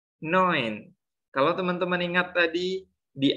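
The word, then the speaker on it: neun: ada ilmunya lagi nih tulisannya n tapi cara baca yang benarnya itu bukan namun tapi lebih kepada noen kalau teman-teman ingat tadi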